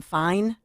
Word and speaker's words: Fiennes: Fine. Ralph Fine. Yeah. Ralph Fine. It's Magnus Fine, who, by the way, insisted it absolutely happened.